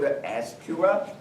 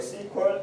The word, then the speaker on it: SQL: database the first time is called SQL but now it is the sequel it is a popular the pronunciation so it doesn't matter Esther on a sequel